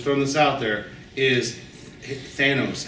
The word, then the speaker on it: Thanos: this out there, is Thanos. It doesn't rhyme with anus. Okay?